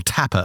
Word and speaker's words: Tappe: So that's the work from Oliver Tapp. I'll link to it in the show notes, or Tapper, I should say. That would be the German pronunciation.